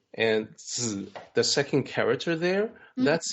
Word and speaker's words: Zi: Zhuang is the surname of this particular master, family name, and Zi, the second character there, that's the honorary.